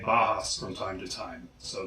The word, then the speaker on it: Bauhaus: Bauhaus. I know that one may seem obvious since they've been around for 40 years. However, I still hear a lot of people say Bauhaus from time to time, so that's why they're